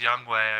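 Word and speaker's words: Younghoe: hoku's gonna win it i think it's pronounced young way i pronoun for all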